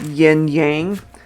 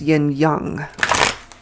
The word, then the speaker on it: yin yang: because i certainly wasn't i always pronounced it yin yang and i was told that it's yin yang very different pronunciation so let's grab three